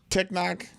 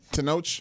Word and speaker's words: Tenoch: Technoc Villa. That's not how you say his name. Tenoch Villa.